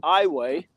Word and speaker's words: Iowa: It's actually they pronounce it Iway.